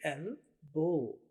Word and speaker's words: elbow: ये देखिए एल बो। उर्दू में बे और वाओ बो, एल बो। यहाँ पे देखिए एल बो। आपने स्पेलिंग में ELBOW यही याद रखने हैं।